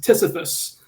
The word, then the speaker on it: TSFFS: for SIMX, or TSFFS, which we pronounce as Sisyphus, like the character from classical mythology.